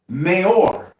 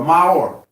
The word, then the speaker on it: maor: The Hebrew word that for lights that was created in the firmament was maor, which is H3974, or maor. And that's spelled M-A-O-R.